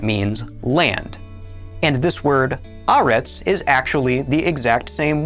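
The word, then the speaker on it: הָאָרֶץ: This is our seventh word, pronounced haaretz.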